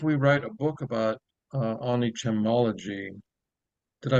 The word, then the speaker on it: Onichemology: And if we write a book about Onichemology, did I pronounce that right, Michael?